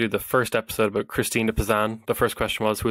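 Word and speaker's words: Christine de Pizan: Christina Pazan, yes. Who was she and what did she do? So when I told people that I was going to do the first episode about Christina Pazan, the first question was, who is Christina Pazan?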